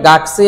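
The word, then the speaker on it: 学: এটা হচ্ছে গাকু। এবং তার সাথে এই যে উমারে মাসের কাঞ্জি, যার আরেকটা উচ্চারণ কি সেই, গাকসেই।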